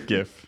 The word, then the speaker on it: GIF: thanks ah thanks well professor it is gif it's gift that owner the creator's wrong screw you professor you know what i'm done the creator says that it's jif okay it literally stands for graphics it's a graphic yeah right the first word is graphic it's graphic first is graphic and he's like drafting